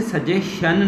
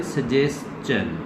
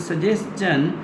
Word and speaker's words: suggestion: अच्छा, इसे सजेशन ना कहें. जिस तरह आप कहते हैं ना क्वेश्चन, तो इसे भी पढ़ा करें सजेशन. This is सजेशन, नॉट सजेशन. Don't pronounce it शन.